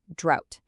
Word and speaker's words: drought: Notice the spelling there with the ought, but it's actually pronounced exactly like out, drought. For example, the farmers lost all their crops due to the severe drought.